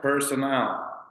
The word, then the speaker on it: personnel: This word here, it's personal. This is not the word. This is pronounced personnel.